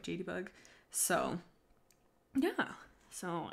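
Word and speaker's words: JadeyBug: My Tootsie, it's spelled J-A-D-E-Y-B-U-G, so like JD Bug.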